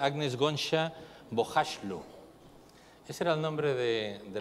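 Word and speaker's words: Agnes Gonxha Bojaxhiu: nombre no Bueno pues yo lo pronunciaría agnes gona bashu ese era el nombre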